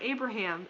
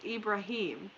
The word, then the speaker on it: Ibrahim: people pronounce it correctly it's not Abraham its Ibrahim my headphones died bury